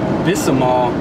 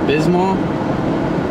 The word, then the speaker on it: Bismol: couldn't help but notice you pronounced it Bisal instead of Bismol and I mean I don't want to sound rude but there's no a in Pepto Bismol no a oh I'm